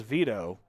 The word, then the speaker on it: Veto: I'm going to go with Vito. It's spelled Vito, V-E-T-O, like as in veto, like a bill. So I'm going to say that it's Vito as his shot comes in over the top.